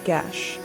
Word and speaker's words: geis: In the Ireland of old, there existed something called a Geis, pronounced a gesh, a word that has no true translation in modern tongues.